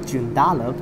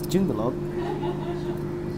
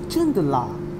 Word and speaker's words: Joondalup: It's not Joondalup, it's Joondalup. Or according to TransPerth, is this is Joondala. Joondala, like that.